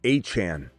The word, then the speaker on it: Etienne: But Travis A-Chane is how you say his name.